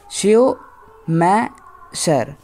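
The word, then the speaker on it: Schumacher: writer है शेव मैकर शयो मै शर शयो मैशर बोलो या मैकर बोलो स्पेलिंग याद कर लेना ओके शयो मै शकर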